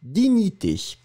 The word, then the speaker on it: dignité: The first one is dignité. Dignité is a feminine noun, la dignité. And you write it D-I-G-N-I-T-E, accent aigu. And remember, G-N-N-N-N-N-N, digni, digni, dignité.